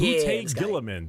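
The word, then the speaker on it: Guilliman: Primark Rabbout Gillaman.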